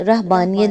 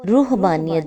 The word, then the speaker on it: رہبانیت: ضمن میں آگے فرمایا، اس کا تلفظ رہبانیت بھی کیا جاتا ہے اور روحبانیت بھی۔ اس کا مادہ رہب